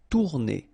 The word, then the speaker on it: tourner: Same thing here if you listen carefully. Tourner. R is not that strong.